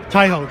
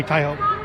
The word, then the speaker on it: Taiho: Tie, T-A-I, or like bow tie, phonetically, T-A-I. Taiho, short. My friends call me Taiho.